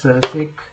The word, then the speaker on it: sec: So normally these are pronounced as se cosec and uh cot.